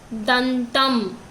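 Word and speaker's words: దంతం: And we have another word, dantam. Dantam means in Telugu teeth. Da, in, ta, im. Dantam.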